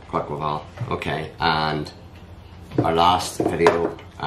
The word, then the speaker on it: Quaquaval: It's do you pronounce that Quackerval? Yeah, Quackerval.